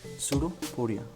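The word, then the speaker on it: pseudopodia: उस टाइप के स्ट्रक्चर को ये बोलेंगे सूडोपोडिया। उस टाइप के स्ट्रक्चर को क्या बोलेंगे, सूडोपोडिया। ओके, सूडोपोडिया, ये सूडोपोडिया नहीं है, सूडोपोडिया, बी साइलेंट है यहाँ पर।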